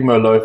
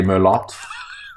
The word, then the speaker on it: Merlot: a big I'm a big merlot fan or as Craig Wright would say Merlotte don't make the guy